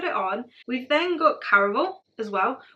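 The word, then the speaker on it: Caraval: on we've then got Caravel as well which I used to pronounce as Carnival but it's there's no n in it is Carnival spelled with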